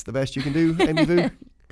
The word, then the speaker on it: Vu: I am host Jamie Ellis accompanied by Amy Vu. That's the best you can do, Amy Vu. That's the best. You know, voo just rhymes with everything.